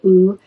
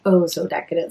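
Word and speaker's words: Oh, So Decadent: So I know sometimes I say ooh, it's pronounced Oh So Decadent.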